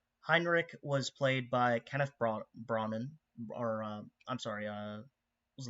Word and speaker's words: Branagh: the summary, but Heinrich was played by Kenneth Branagh, or I'm sorry, what was the last name? It was Bronick? Branagh.